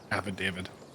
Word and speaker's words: affidavit: Affidavit. Oh, that is how you say it. Affidavit. Yeah, it's just like the name David. It's affidavit. Yeah, it's weird.